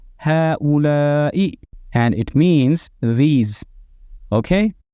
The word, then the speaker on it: هؤلاء: objects, which is هؤلاء, written the way you see it and pronounced as هؤلاء, and it means these.